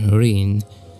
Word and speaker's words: 林: that the onoi here Rin is very much related to its origin it related to its Chinese origin linnn so if it is pronounced as Linn in China when adopted in Japan it's Rin and by the way